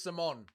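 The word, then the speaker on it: Simón: Isn't it pronounced Simon? Let's listen to how Martinez says it. It is Simon.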